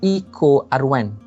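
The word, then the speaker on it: EcoRI: most important one now the echo r1 and the way we pronounce it will be the eco r1 meanwhile this other decision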